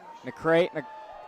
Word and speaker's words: McCright: I believe his last name is pronounced McCrate.